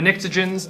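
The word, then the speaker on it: pnictogens: know those okay the Nixons and the child begins you don't really need to know about but I think they're fun and it's spelled cool come on there's a silent P right it's it's just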